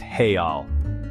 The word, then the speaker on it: real: talk money the currency in Brazil is the real pronounced heal it's a good idea to exchange some money